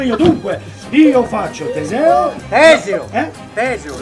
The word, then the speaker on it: Teseo: Teseo, l'accento è sulla prima sillaba!